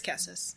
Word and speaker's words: Cassus: It's cassus. I knew it had like a k sound at the beginning.